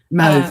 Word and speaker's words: mauve: It makes the It makes the heart stand out, but it also really highlights this gorgeous like grayish mauve. I think you say mauve.